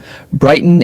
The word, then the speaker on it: Brighton: Brighton and Hoveve Albian. Repeat twice. Brighton and Hoveve Albian. Brighton and Hoveve Albian. Shorten brighten to b r y t n.